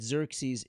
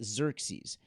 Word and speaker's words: Xerxes: And I'd like to pause there for just a moment and tell you the story of how we know that Xerxes is Achashverosh.